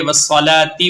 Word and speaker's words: والصلاة: اس طرح، وَاسْتَعِينُوا بِالصَّبْرِ وَالصَّلَاةِ، آخر میں ہا کی آواز آئے گی ساکن ہو کر. اور جب ملا کر پڑھیں گے تا ہے، تا کے نیچے زیر پڑھیں گے والصلاۃ وانھا.